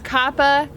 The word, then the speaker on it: COPPA: I knew I'd say it wrong. Right now it's COPPA, which for us, our demographics include very little, put all this up.